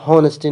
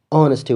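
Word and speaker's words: honesty: ګورئ دا لغات صحیح تلفظ کی دا هونسټي نه دی. اچ سایلنټ دی. اونسټي ویل کیږي.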